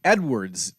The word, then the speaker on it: Edwards: It's actually W. Edwards Deming with the S on Edwards.